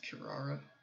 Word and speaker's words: Kirara: I believe that's how her name is pronounced, Kirara.